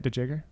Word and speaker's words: DeJager: That's Chris DeJager, DeJager. Is that how you say it, DeJager? J-E-R at the end.